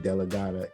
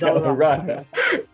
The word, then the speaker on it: DellaRatta: revelation about who Rick DellaRatta is. And I just mispronounced his last name. Rick DellaRatta, yes. DellaRatta.